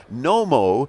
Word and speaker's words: Knomo: of a company called Nomo the K is silent is Howard Harrison Howard